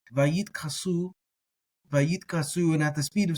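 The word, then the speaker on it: וַיִּתְכַּסּוּ: So a lot of people, you hear them say Vayit Kasu. I pronounce it as a t, like a t. Either way, whether it has the dagesh or not. Vayit Kasu, and at the speed of speech, you almost can't tell the difference.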